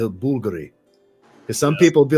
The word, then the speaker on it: Bulgari: That's why I had to correct myself and say Bulgari. Because some people would be like, that's not how you pronounce it.